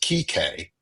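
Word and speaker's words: Kike: It is Kik is how it is pronounced.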